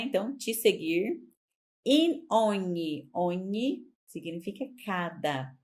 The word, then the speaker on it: ogni: Ogni significa cada. Tem que prestar atenção na pronúncia.